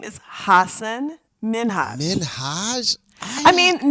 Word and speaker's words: Minhaj: name is Hassan Minhage Minhaj. I mean not with such an emphasis on the Haj. I mean it's it's it's a lighter touch than that but it's not Minaj.